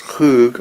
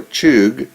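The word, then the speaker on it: חוג: According to Young's Analytical Concordance and Strong's Exhaustive Concordance, the Hebrew word translated circle in Isaiah 40:22 is a word that can be pronounced khoog or chug.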